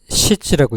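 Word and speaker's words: 質: 질은 이렇게 시즈라고 읽습니다.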